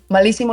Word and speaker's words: malísimo: Malísimo lleva acento en la I, por cierto, la primera.